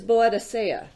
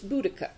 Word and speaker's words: Boudicca: was fascinated that that the way that I've always heard it mispronounced it's still being mispronounced is bloody saya or there's there's Boadicea cisco out of San it's they've since decided that it's Boudicca that that was the